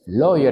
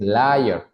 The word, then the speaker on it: lawyer: la persona inmediatamente anterior loyer lawyer es abogado No me vayan a decir layer layer es mentiroso y lawyer es abogado